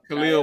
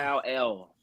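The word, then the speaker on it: Kalel: Khalil Mullins. Kyle Mullins. Yeah. Where he from? Kyle L. Like Superman's dad. Where he from? So not Khalil.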